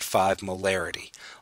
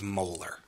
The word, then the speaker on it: molar: by chemists and biologists, it's not actually spoken 0.5 molarity, although many beginning students want to describe it that way. It's actually pronounced 0.5 molar.